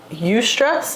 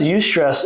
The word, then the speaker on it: eustress: Good stress is that eustress? Is that how you pronounce that? Eustress? Like euphoria.